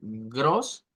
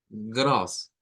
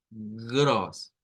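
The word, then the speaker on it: groß: gros, porque si usted le hace gros, está haciendo una R del español, una R suave. Lo que debemos de hacer es gros, gros. Es it's gross. Es it's gross. Gross. La fuerza de voz proviene de la parte uvular, que popularmente decimos es la garganta.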